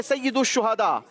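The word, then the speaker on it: سيد الشهداء: सही प्रोनाउंसिएशन है सैयदुश शुहदा।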